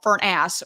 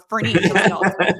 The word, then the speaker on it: Furniss: That's like Furniss, and I get called Furnass or Furniss. Like the heater, just spelled differently.